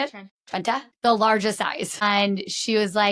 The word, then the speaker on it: Trenta: Her exact order and a Trente, which is that how you say it? Trenta, the largest size.